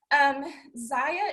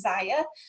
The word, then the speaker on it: Zaya: So Zaya is how you pronounce the name of it. I know some of us, when you first see the name, you may not know how to pronounce it. So it's Zaya. We were started by a woman named Erin Bradley.